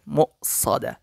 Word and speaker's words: مؤصدة: عمد ممددة ইন্নাহা আলাইহিম মুসাদা। এই জায়গায় ওয়াও রয়েছে, হামজাও রয়েছে, তবে প্রাধান্য হবে ওয়াওয়ের উপর হামজা রয়েছে, সেটাই মিম হামজা পেশ মু হবে। এরকম মু উচ্চারণটা হবে, অবশ্যই খেয়াল করবেন। মুসাদা।